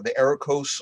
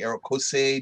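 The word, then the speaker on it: Erekosë: So this is the Erikos or the Erikose, depending on how you want to pronounce those umlauts on the last E.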